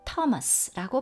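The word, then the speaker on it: Thomas: 그런데요, 도마는 로 발음하지 않고 그냥 토마스라고 발음합니다. 제임스, 그리고 테디어스, 사이먼, 주다스입니다. 자, 다시 해볼까요? 피터, 제임스, 존, 앤드류, 필립, 바솔로뮤, 매튜, 토마스, 제임스, 테디어스, 사이먼, 주다스.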